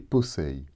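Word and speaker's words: πόσει: Dans le passage de Colossiens 2,16, ils sont au datif et se prononcent brosei et posei.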